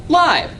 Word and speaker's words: Laib: Correctly pronounced? Laib.